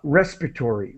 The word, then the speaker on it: respiratory: example and so uh respiratory uh now that's my pronunciation some people might pronounce it differently but I say I tend to uh respiratory respiratory respiratory I I do not really pronounce the the syllable that should be created by the a respiratory system I